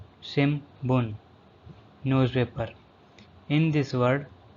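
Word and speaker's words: 新聞: Shimbun. Shimbun. Newspaper. In this word, the N syllable pronounced as M is Shimbun.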